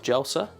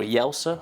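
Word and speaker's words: Jelsa: brought us into the port of jela or yelsa I don't think they pronounced it Jay over in Croatia and we're here for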